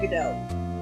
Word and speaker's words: Godot: Godot's you pronounce his name Godot.